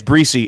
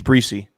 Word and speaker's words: Brzee: year so that'll agree it's breezy it's breezy is it yep okay also all the announcers have been saying it wrong you know yeah um